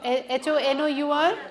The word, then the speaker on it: honor: r h o u h o n o r so the H here is silent similarly here here again